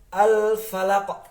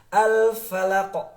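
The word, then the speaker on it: الفلق: Tapi kalau di surah Al-Falaq sama. Min syarri ma khalaq. Seperti itu teman-teman ya. Kemudian ketika kita bertemu dengan huruf qaf sukun, ada pantulan. Jadi bukan al-falaq, tapi al-falaq.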